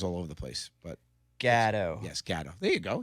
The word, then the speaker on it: Gatto: Gatto. My accent and your accent. Everybody says Gatto. Yeah, it's Gatto.